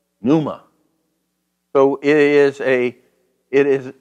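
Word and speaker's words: πνεῦμα: week I kept saying Puma it's Numa you know it's not there's no there's no you don't pronounce the P but I you know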